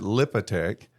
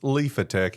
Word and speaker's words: Liphatech: I've I've pronounced it lipotech uh but there's a ph that should be pronounced lifetch and you said even